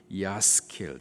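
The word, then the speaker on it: יַשְׂכִּיל: 이 단어 형통하다라는 이 단어의 히브리식 발음이 야스킬, 뜻은 지혜롭게 행하다, 성공적으로 행하다라는 뜻이 있습니다.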